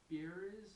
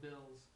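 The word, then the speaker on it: Beerus: what his name was beer or something like that Lord be yeah that's how it's pronounced in English but in Japan it's it's Lord Bills so I mean we're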